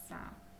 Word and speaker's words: Одеса: значить він буде у нас наголошений Львів один Одеса наголос на е Харків наголос на а випиши слова